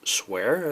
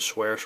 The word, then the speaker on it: sphere: It's a sphere, as far as not a swear, but a sphere.